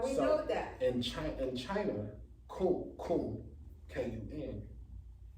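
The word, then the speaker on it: Kun: In China, Coon, K-U-N. Pronounce the same, spelled different.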